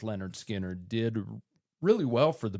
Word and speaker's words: Lynyrd Skynyrd: But that debut album that was titled Pronounced Leh-nerd Skin-nerd did really well for the band, reached number